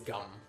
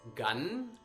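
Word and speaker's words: गं: which is the root chakra um and the syllable is gum so it's um basically pronounced like like chewing gum gum you may also hear it pronounced as gun like gun um you may also hear it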